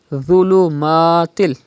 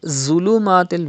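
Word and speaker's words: ظلمات: Dhulumatil. Dha is a Mustaliya letter and it is also pronounced without whistle. Dhulumatil. If you read zulumatil with whistle, it is not correct.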